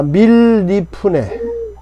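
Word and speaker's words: מִלִּפְנֵי: 자, 밀리프네. 밀리 밀리 밀리. 자, 발음이 잘 안 되시나요? 네. 자, 써보겠습니다. 미골 점이 점이 있으니까 두 걸자죠. 밀 그렇죠. 밀 자 리프 네 밀리프네.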